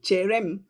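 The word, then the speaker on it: chere m: All right, so cherem, cherem.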